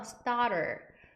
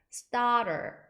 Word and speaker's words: starter: 의미가 되고요 star 해다가 t 발음이 부드럽게 굴려서 starter starter 이렇게 발음을 합니다 그래서 appetizer 아니면 starter